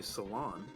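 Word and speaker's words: Selan: reflect well actually uh her name is pronounced seal and kinda like if you were to say see and one amped together so yeah I could see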